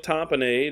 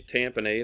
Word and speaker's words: tamponade: apply the AED immediately pericardial tamponade or some people say tamponade I don't really don't care how you pronounce it you say it either way people are going to understand what it means it is bleeding into